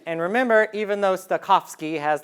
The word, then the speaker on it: Stokowski: Stokowski, you got to have the Polish pronunciation, working on Barber's Adagio for strings.